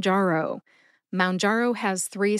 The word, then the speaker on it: Mounjaro: correctly it is M which rhymes with down as in your blood sugar should go down when you use m